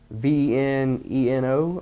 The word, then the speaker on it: Veneno: This is the Veneno mod, V-E-N-E-N-O. I always have fun trying to pronounce some of these names on these things.